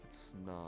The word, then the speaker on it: Snom: Snom.